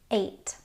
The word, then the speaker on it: eight: Now, before I said the ig gh sound makes a long i sound, which is true unless there's an e in front of it, which would make it ei. Ei makes a long a sound like in the word eight.